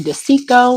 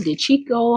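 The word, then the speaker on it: De Cicco: We're also starting broccoli de Chico or de Chico, however you want to pronounce it. Dicicco is the spelling of it.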